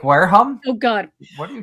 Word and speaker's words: Wareham: It's pronounced Wareham, but I've heard people call it Wareham.